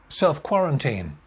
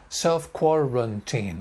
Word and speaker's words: self-quarantine: so strong self isolate similarly self quarantine self quarantine again four syllables self quarantine self quarantine